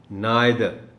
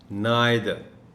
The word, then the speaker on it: neither: सो द correct pronunciation of this word is neither, neither.